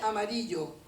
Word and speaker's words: amarillo: Par exemple, jaune, c'est amarillo.